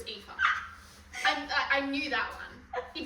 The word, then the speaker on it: Aoife: And you're pronouncing Aoof. When I did read it as Alfie, but I knew it was Aoife.